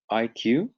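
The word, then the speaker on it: Eye Q: i i recommend is called iq so it's that's spelled e y e the letter q um and they've recently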